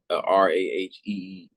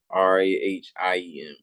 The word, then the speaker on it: Rahiem: And it's not Raheem, it's Rahiem.